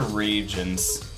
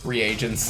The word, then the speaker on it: reagents: i have no idea what they are they're regions reagents reagents i didn't know how to say it